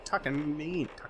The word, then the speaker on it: Takamine: So Takamine, that's how you say it. Like Takamine Mouse. Takamine Mouse.